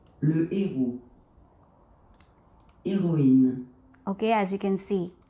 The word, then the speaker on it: héroïne: Okay, so yeah, so this is a very good example of a noun in which the masculine version begins with aspirated, meaning which the H has to be pronounced, whereas the feminine version of the same noun does not begin with H aspirated, it begins with H mute.